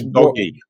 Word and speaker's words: DOGE: yeah um it it's how does the G sound in government yeah sounds like a hard G so it would be doggy but you can't tell